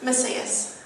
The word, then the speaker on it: Macias: What is the correct pronunciation? Macias.